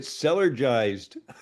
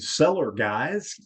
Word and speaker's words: Cellergized: we could say, and seller guys, go seller guys. I know. We've had a lot of mispronunciations on this word. It's really interesting. But just remember cellar, because we're cellular beings, and then jives.